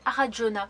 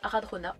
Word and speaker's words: Arjona: que depuis le début, je disais Arjona. Et en fait, le J se transforme en R en espagnol. Et c'est seulement maintenant, après 3 ans, que je me rends compte qu'en fait ça se prononce Aradrona.